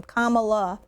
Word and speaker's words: Kamala: the way is how you say her name Kamala is how you say it and to suggest